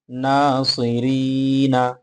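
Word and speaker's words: ناصرين: হয়ে যাবে ঠিক আছে নুন আলিফ জবর না সদ জের সি নাসি র ইয়া জেরি নুন জবর নাসিরিনা নাসিরিনা উচ্চারণটা হবে নাসিরিন নাসিরিন নাসিরিন মাশাল্লাহ ওয়াও আলিফ জবর ওয়া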